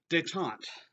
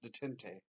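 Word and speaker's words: détente: Detente. Okay, so the only pleasant thing about all of this is to not hear a bunch of students pronounce this detente. It's called detente. It's a French term, and this is Kissinger's plan.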